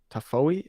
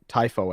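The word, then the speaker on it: Tiafoe: now and Francis Defoe tafoe I think I can't remember how to say his name uh typho I think is how you say it Francis typho taking down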